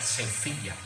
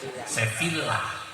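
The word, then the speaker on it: Sevilla: ke stadiion seeviah seevila orang sono bacanya sefiah biar kayak orang sono gitu orang sini bilang apa namanya seevilah orang sana Bilangnya apa namanya sefiah itu sefiah sefila tulisannya ternyata tulisan Arabnya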